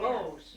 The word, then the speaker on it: Vose: spell that? Voice was her middle name. It was? Yes. Vose, yes.